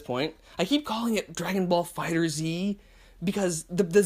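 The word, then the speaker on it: Dragon Ball FighterZ: the end of Fighters, so I either want to say Dragon Ball Fighters, or not that, that's the correct way to say it.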